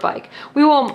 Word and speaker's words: bike: this is the word bike. I will have the children use a dry erase marker to mark the vowels. So they will mark I long and cross out the E because E is silent.